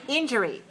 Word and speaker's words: injury: cause serious injury 31 pronounce three syllables stress the first injury it can cause serious